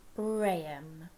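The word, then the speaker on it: Brahman: god called braham okay it doesn't look like it's pronounced like that but it is brayum and brayan's qualities are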